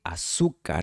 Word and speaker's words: azúcar: En español americano, la "z" de "azúcar" In American Spanish, the "z" in "azúcar" se pronuncia como una "s".